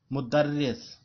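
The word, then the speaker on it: مدرّس: تلفظ یاد رکھنا ہے۔ مدرس یہ شد بھی ہے رے کے اوپر اور زیر بھی ہے، اور مدرسن تو ہم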